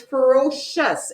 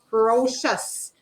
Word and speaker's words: ferocious: see look at this the c i o u s that's hard to spell cuz it looks but it's ferocious it sounds like s h u s ferocious so it's a hard